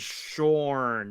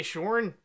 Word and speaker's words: Shaun: His name is Shorn. That's how they say it in England. Say Shorn?